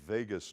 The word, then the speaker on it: vagus: going through something called the vagus nerve pronounced just like las vegas right the vagus nerve